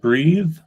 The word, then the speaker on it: breathe: Um so we have breathe um that ends in an e and has like a long e sound. Um so like to breathe the verb and then we have breath. Um ends in a thre. So yeah, very very similar pronunciation. Um just um the vowel sound in the middle.